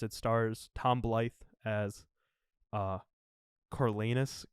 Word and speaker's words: Coriolanus: And of course it stars Tom Blythe as Coriolanus Coriolanus? Coriolanus Snow. Not Cornelius.